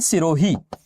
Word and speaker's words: Shirui: National park के अलावा दूसरा है शिरोई, और इसका वास्तविकता में स्पेलिंग यही है SHIRUI, शिरुई, या इसी को कहा जाता है सिरोही नेशनल पार्क।